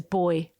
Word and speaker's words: buoy: There was one called Leaf Peeper, Buoy Band, which is only really funny to people like me, aka Australians, who pronounce buoy as boy.